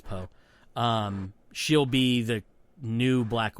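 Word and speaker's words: Pugh: I think it's pronounced Florence Poe.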